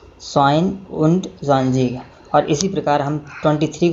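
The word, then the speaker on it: zweiundzwanzig: इस प्रकार 22 को हम प्रोनाउंसिएट करेंगे स्वाइन उंट ज़्वांज़ीग, स्वाइन उंट ज़्वांज़ीग।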